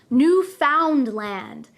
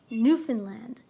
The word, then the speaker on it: Newfoundland: Be careful though, many people who are not Canadian try to pronounce this word as Newfoundland. We do not pronounce it that way. We say Newfoundland, Newfoundland.